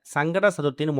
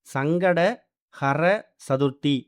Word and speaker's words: சங்கடஹர சதுர்த்தி: முதல்ல இந்த சங்கடகர சதுர்த்தியை முழுமையா உச்சரிக்கணும். நிறைய பேர் சங்கடகர சதுர்த்தி அப்படிங்கறத முழுமையா உச்சரிக்காம சங்கட சதுர்த்தின் மொட்டையா சொல்றாங்க. அப்படி சொல்றது மூலயமா சங்கடங்கள் விலகாது. சங்கடங்கள் தான் சேரும். சங்கட ஹர சதுர்த்தி இப்படி உச்சரிக்கணும்.